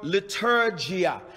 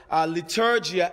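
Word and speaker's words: leitourgia: worship is la true oh la true i'll spell it for you l a t r e u or the word liturgia liturgia l e i t o u r g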